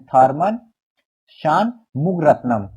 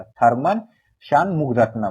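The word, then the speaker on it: Tharman Shanmugaratnam: एक मिनट क्या नाम है इनका सिंगापुर प्रेसिडेंट थर्मन शान मुग रत्नम थर्मन श मुग रत्नम एक बार फिर से प्रोनाउंस करेंगे नाम थोड़ा सा डिफिकल्ट होगा लेकिन हो जाएगा थर्मन शान मुग रत्नम ठीक है वो इंडिया भारत की यात्रा प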